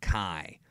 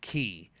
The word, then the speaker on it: ki: Ball is the outrageous key attacks and that's right it's pronounced key not Kai the Kamehameha the Final